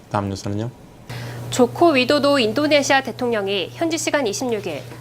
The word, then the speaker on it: 조코 위도도: 우리 이성애 씨가 조코 위도도라고 정확하게 발음을 하는. 근데 신문에서는 조코이 대통령이라고 많이 쓰더라고요. 정확하게는 조코 위도도 이렇게 됩니다.